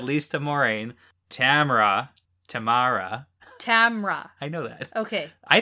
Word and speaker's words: Tamra: have to correct you it's just tamra tamara ospena yeah i feel like you put an extra syllable in there i like the name